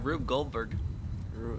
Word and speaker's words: Rube Goldberg: like a like a rube goldberg how do you say it yeah rube goldberg like rue goldberg machine but like coincidentally